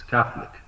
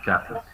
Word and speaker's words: Catholic: It's Catholic. Just Catholic. The O is almost silent.